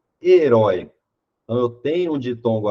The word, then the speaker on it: herói: Na alternativa A, herói. Então eu tenho um ditongo aberto aqui, mas herói precisa ser acentuado. Por quê? Porque herói não é uma paroxítona. A sílaba tônica é a última.